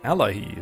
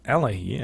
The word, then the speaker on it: Allayi: Allayi is how you pronounce these guys.